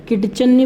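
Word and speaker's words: kitchen: यह पट्टी साइलेंट है मेरे किचन में क्या साइलेंट है अत इस आयरलैंड है कि चन्नी बोलेंगे हम इसको क्या बोलेंगे किचन बोलेंगे किचन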